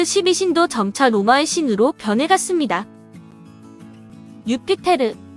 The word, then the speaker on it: 유피테르: 유피테르, 로마 신화의 최고 신으로 주피터는 영어 발음인데 원래 천공의 신이며 그리스 신화의 제우스에 해당합니다.